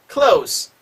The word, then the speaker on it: close: 자, 그 다음에 close. 자, close to me, close the door. 소리가 똑같지만 스하고 즈로 나뉘는 게 어디요? 명사로 될 때와 동사로 될 때와 다른 거죠.